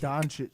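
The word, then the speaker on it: Dončić: Don Donkey Donic Donic.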